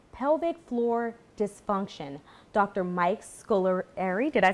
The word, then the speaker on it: Scolieri: Mike Scolieri, did I say it right? Scolieri, yes.